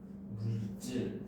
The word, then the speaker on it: 물질: 물질. 그치. 자, 우리가 보통 과학 시간에 얘기하는 요 단어는 물질이라고 된소리로 발음이 되는 거죠.